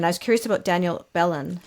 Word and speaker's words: Belen: I was curious about Danielle Belen. How does she pronounce her name? Belen.